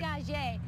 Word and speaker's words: Dégagé: Dégagé.